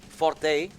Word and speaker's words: forte: I recently learned myself that the word forte is actually pronounced fort. Yeah, but if I say fort, people will... I know, but like will be confused. weird English. I always thought it was forte as well.